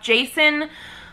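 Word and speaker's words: Jacen: follows the character of Jason, J-A-C-E-N. I think it's pronounced the same as like J-A-S-O-N.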